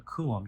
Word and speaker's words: coulomb: to 1.6 times 10 to the minus 19th coulombs. So that capital C right there, that is the unit of charge, and it is called a coulomb. You spell that C-O-U-L-O-M-B, like that, coulomb.